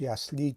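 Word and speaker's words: ясли: خب تاجیکای ما اکثرش یسلی تلفظ میکنن این کلمه رو به خاطر اینکه ما تاجیکا زده رو همیشه در هیجای آخری کلمه میگذاریم، اما در زبان روسی این کلمه که از دو هیجا عبارت است تلفظ میشود یسلی. هیجای اول یس و هیجای دوم لی. زده در بالای هیجای اول افتاده است و به همین خاطر هم بلند تلفظ میشد یسلی.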